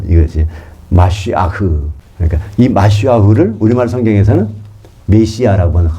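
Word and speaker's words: מָשִׁיחַ: 그래서 기름을 부어지는 거 이것이 마시아흐 그니까이 마시아흐를 우리말 성경에서는 메시아라고 겁니다. 메시아 메시아를 히브리어 발음으로 하면 마시아가 됩니다.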